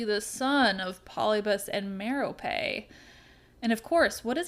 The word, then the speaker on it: Merope: Yes, I know the audiobook so well that that's how Stephen Fry pronounces it, and so I'm doing it. You're welcome. It's probably technically Merope, but that sounds silly.